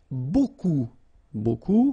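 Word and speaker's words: beaucoup: Remember you don't pronounce the final p. Okay. And then you get this combination of vowels uh a and you get the sound o.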